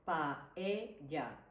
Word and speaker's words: paella: Let's break it down phonetically. So it's paella. However, most English speakers, I think, have a hard time because we pronounce all the vocals. So it's like paella. Yes, So sometimes they'll say paella yes, because it's hard. The A and the E are both so open.